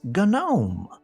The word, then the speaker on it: gnome: The silent letter guy that dresses like a gnome." "It's gnome."